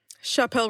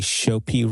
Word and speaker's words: Chappell: Did you say Chopin Royale? No. How are we saying this? Mari, say her name again. It's Chappell for the first name, Roan for the last name.